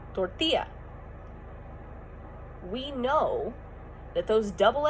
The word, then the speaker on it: tortilla: And now, if we see a double L in like cellar, we know that's an L sound. But since tortilla is Spanish, we know, or maybe we don't, that makes a yes sound.